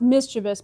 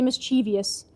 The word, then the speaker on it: mischievous: She had a I know it's pronounced mischievous, but I like to say mischievous.